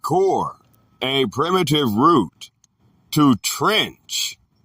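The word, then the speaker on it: כּוּר: The word is kur, pronounced core, a primitive root, to trench, by implying to throw forth.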